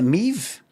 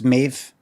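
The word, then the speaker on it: Maeve: And uh, can you pronounce her name? Mave. or is it me? I think I think I asked her. I said, "Is it me?" I think she said, "No, it's Mave."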